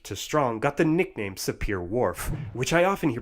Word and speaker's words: Sapir-Whorf: claims from weak to strong got the nickname sapir-whorf which I often hear pronounced saber Worf the Hopi time became its poster child and